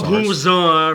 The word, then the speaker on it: Pomposaurus: Pompuzar, for the last time, accent on the third syllable. It's Anglo-Norman, you know.